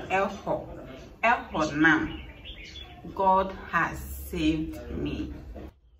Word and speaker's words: Ehonam: Yeah, it is spelled Ezo, but it's pronounced Elho.